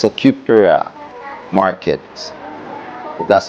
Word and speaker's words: Praia: It's a cute Praia. markets That's how you pronounce it.